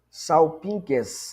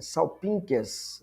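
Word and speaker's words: σάλπιγξ: Salpinques, né? Salpinques. Salpinques. Esse gama aqui você lê como N, né?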